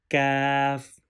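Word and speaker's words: كاف: this letter by pronunciation this first one off has two doors on it this letter read with heavy sound off with two dots read with heavy sound and cuff without dot this letter read with thin sound off heavy sound calf thin sound this letter is off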